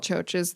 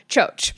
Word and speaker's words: Txotx: is what we call Txotx. And so Txotx is not spelled with C's and H's. It is spelled with T's and X's. And that is the Basque sound for ch. So Txotx is the call at the cider house.